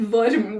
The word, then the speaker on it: Worm: But we always hesitate to how to pronounce his name. Yeah, it's Worm.